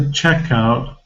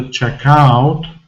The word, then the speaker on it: checkout: to the checkout and it must be to the checkout not the checkout because if you're pronouncing stress on how sound and don't associate this sound with the word checkout so I'm lost I